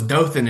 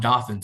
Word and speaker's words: Dothan: my into my mind you knew it was Dothan and not dothin so you're already well uh so Virginia has some interesting pronunciation Stanton even though it's not spelled Stanton